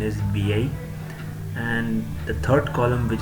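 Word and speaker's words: vieille: and the pronunciation is V-I. And last but not the least, feminine plural column, in which S is added in the end. So the pronunciation remains the same, VI, but S is added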